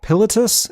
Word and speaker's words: Pilatus: milli vanilli he met Fabrice Morvan and Roberts pilatus is that how you say his name yeah Isle itis that sounds right Politis it's PIL atus yeah Politis all right he founded that with fab and